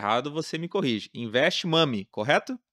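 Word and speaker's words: Invest Mommy: Se eu pronunciar errado, você me corrige. Invest Mami, correto? Investe Mommy, isso mesmo.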